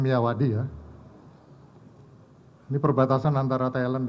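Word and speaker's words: Myawaddy: sendiri itu ada di Kalau tulisannya miiawadi gitu bacanya miyawadi Ya ini perbatasan antara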